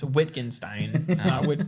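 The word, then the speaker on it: Wittgenstein: I actually said it wrong. It's Whitenstein. Witten Ginstein.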